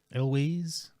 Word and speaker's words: Elwes: Elwes.